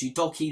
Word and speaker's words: Udogie: Udogie, that's how the commentators pronounce him. I'm going to keep calling him Udogie because I believe that's the way you were meant to.